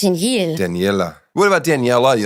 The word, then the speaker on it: Danielle: Danielle I know I I literally pronounce my own name wrong but it's Danielle but everyone's like Danielle I'm like that's just you say it like Danelle do I say like Danielle like French almost Danelle Danel what about Danielle